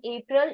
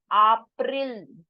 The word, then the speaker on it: April: A is pronounced as A in German. We have just done today. So it is not April, it is April.